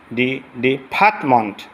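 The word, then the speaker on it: department: ডিপার্টমেন্ট, এটা উচ্চারণ হবে মেন্ট না মন্ট, এখানে এখানে টান হবে।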